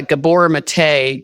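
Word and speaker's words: Gabor Maté: addiction yeah he's a Gabor mate gab b o r m a t and then uh the E is pronounced a m he um he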